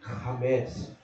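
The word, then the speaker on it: חמץ: You want to pronounce correctly? It's chametz.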